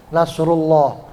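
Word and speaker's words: نصر الله: Lafaz Allah itu dibaca tafkhim atau dibaca berat apabila huruf sebelumnya berharokat dhamma atau fathah. Ya kayak di sini Nasrullah, huruf sebelum lafaz Allah huruf apa? Huruf ru ya, nasru dhammah harokatnya. Nah, berarti lafaz Allahnya bacanya tafkhim berat, loh, Nasrullah.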